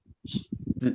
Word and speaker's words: zi: Zi is pronounced as z, z. Whenever you see a pinyin with a final I, you should ask yourself, is this one of the special 7? If it is, you should know that I here is just a filler. It's actually a silent I.